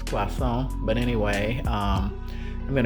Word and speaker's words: croissant: pancakes um quason um As Americans call it croissants um correct pron correct pronunciation is quason but anyway um I'm